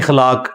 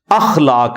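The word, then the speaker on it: اخلاق: साथ होते हैं मसलन यह लोग बोल देते हैं खलाक खलाक लफ्ज नहीं है अखलाक लफ्ज है तो अगर हम यह लफ्ज यूज करेंगे तो अलिफ के ऊपर जबर डालेंगे इस तरह इंग्लिश के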